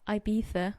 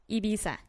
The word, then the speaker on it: Ibiza: to get drunk and ibiza which by the way that's how spanish people pronounce it but me as mexican i pronounce it ibiza anyways i am mexican